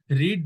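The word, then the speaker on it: read: কি বলে বানান একই আমরা রিড রেড রেড বলি কিন্তু বানান একই তাহলে আমি যদি আর ই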